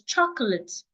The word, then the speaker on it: chocolate: So the next word I have is chocolate. Chocolate. It's not ch. It's not chocolate or chocolate. It's O. The first letter O sounds as in orange. Ch. The second letter O is silent.